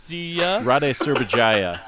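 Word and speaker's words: Rade Šerbedžija: Raid Serbedzia. Rade Serbedzija is his name.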